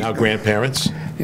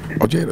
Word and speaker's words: Ojeda: get that's another thing people say hey you're pronouncing your name wrong I go look Oh JD just made it easy you know cuz I don't like oh he de oh oh hey you